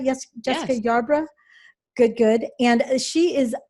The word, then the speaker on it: Yarbrough: back to sales mastery i'm here with jessica yarborough and am i pronouncing that right yes jessica yarbrough good good and she is the expert on